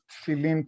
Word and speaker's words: tefillin: They would stop you and they would say, would you put a tefillin today?